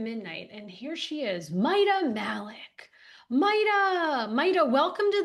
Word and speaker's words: Mita: It's Mita Malik."